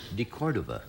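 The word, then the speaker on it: de Cordova: You kept mispronouncing it all night at the party. DeCordova.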